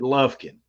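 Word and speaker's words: Lufkin: Frank k i n lovekin Lin only you pronounce it lovkin Lin if I mean if you're going to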